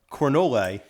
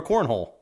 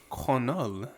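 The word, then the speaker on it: Cornolle: Jacqueline cavalcante taking on Nora corolle or as my eyes initially wanted to pronounce it Nora cornhole that's also where my mind went um but I believe it's conol coming in as the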